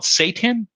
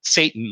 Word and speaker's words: seitan: I think it's called seitan, not Satan, like Hail Satan.